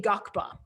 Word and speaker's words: Ngakpa: And our Lama, Lama Tashi, is a Gakpa. That's spelled Ngakpa.